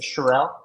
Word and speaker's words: Shirelle: say your last name is it shirelle yeah yeah you nailed it like Burrell yeah yeah like Pharrell with an sh what happened to Pharrell